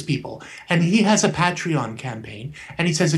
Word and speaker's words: Patreon: Patreon. Patreon. It's like patron, but with an E in there.